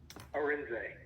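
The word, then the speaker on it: Arinze: so uh how do you say your name aren a r i n z e all right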